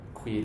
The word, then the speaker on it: quid: We have Q is always followed by a U in Latin, and it's always going to have a qua sound. So quid est veritas?